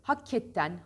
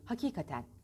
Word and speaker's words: hakikaten: yani şeyde gün içinde Evet hakketten hakketten değil hakikaten hakikat hakikat hakikat en